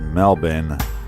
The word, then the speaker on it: Melbourne: and you are super super awesome well it's pronounced Melbourne the born is silent as you're over at